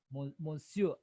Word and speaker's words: monsieur: monsieur. No, R is silent. So you say monsieur.